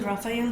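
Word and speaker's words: Raphael: इनके नाम का प्रोनाउंसिएशन लोग अलग अलग तरह से करते हैं, बट the correct pronunciation is राफायल। तो आर्कएंजल राफायल जो है, ये है बेसिकली हीलिंग के आर्कएंजल।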